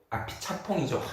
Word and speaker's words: 아피차퐁: 평론가님 그래 민우 평론가님은 그러니까 평론가님은 지금 이 부분을 이제 작가로 보시는 거니까 이 아피차퐁이죠. 이 발음은 아피차퐁.